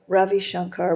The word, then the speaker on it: Ravi Shankar: We heard that Rav Ravi Shankar, how do you pronounce his name? Ravi Shankar? Yep. Ravi Shankar was in London and would be giving a concert at the Alumni Hall on Sunday, March 30th.